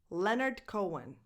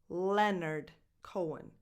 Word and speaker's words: Leonard Cohen: That H in the middle is silent.